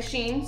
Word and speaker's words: Shein: however everyone pronounces it everybody pronounces it a little bit differently most of the time i like to say sheen so i have done